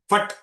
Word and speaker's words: फट: उसका उच्चारण फट ऐसा नहीं करना है, फट, द सुप्रीम वेपन।